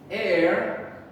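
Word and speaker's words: heir: okay and remember there's four exceptions to the rules air honest er our we do not say the h sound so i'm going to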